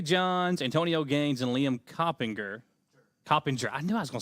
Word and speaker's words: Coppinger: Okay, so we got Anthony Johns, Antonio Gaines, and Liam Coppinger. I knew I was going to say it wrong. Liam Coppinger here with us today.